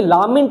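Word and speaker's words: lament: लैमेंट का मतलब होता है विलाप करना। यहाँ पर विलाप करने का मीनिंग है दुखी होना। देखो ये लामेंट नहीं है, ये लैमेंट है।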